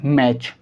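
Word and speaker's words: match: आप ध्यान से देखिए, यहाँ पर लिखा TEN और इसमें लिखा TCH, तो यहाँ भी लेटर टी साइलेंट होगा, यहाँ भी लेटर टी साइलेंट होगा। कॉन्सेप्ट क्या है? कॉन्सेप्ट हमारा ये है, जब भी TEN एक साथ आएंगे तो टी साइलेंट होगा, TCH एक साथ आएंगे तो टी साइलेंट होगा। हम इसको पढ़ेंगे ग्लिसन और इसको हम क्या पढ़ेंगे? मैच।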